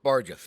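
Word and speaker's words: bargus: that makes sense or not vargas barges b-a-r-g-u-s pronounced barges it's a noun the area on the windshield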